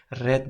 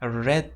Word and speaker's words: read: zamon shakli irregular demak infinitive shakli read bo'lsa uni verb to shakli ya'ni past zamon shakli red deb talavuz qilinadi demak xuddiki red degan rangimizga o'xshab ya'ni qizil degan rangimizga o'xshab mana bu yerda yulduzcha yopib qo'ygan pronounced red deyapti demak Bu fe'lllarni siz